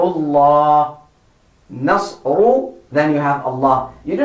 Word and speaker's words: الله: Allahu Akbar, Allahu Akbar. Children, the pronunciation of the word Allah is thick. Why? Because it is called Lafzul Jalala. It is heavy.